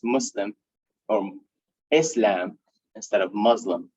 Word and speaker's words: Muslim: lot of people say muslim but isn't it muslim it's an s yeah muslim yeah muslim yeah so we pronounce the s we don't say z it's an s that's an s so